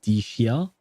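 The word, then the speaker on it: Dehya: And even Dia is not pronounced Dia, it's pronounced Dishia for some reason.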